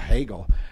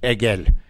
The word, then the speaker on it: Hegel: You can't do the H. Hegel.